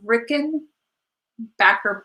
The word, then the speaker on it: Rickenbacker: do you think of Rickon back her faces and I have confirmed with the company that that is the proper pronunciation um I think pretty time oh no not time okay Rickenbacker bases are beautiful they